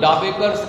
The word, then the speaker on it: Dabekar: I asked today, what is the dreaded criminal Hemant Dabekar's connection to Eknath Shinde?